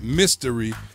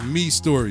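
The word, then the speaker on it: Mistory: say this every week, it looks like it's pronounced Mystery or My Story, M-I-S-T-O-R-Y, but I've been corrected for the last 3 weeks, so it is Me Story, so don't think I can't read.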